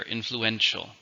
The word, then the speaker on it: influential: How many syllables do you hear? Influential. Influential. 4, but the stress is on the third syllable.